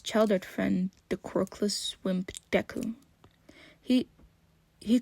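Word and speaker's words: Deku: no happiness within it deu it's a different way of pronouncing the Ki of my first name it it's supposed to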